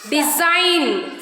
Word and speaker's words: design: G is silent when it comes before the letter N.